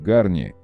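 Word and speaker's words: Garnier: Раньше марка Гарни озвучивала себя по-русски как Гарни, знак зарегистрирован в России с 1991 года, в традиции французских марок типа Перье или Курвуазье.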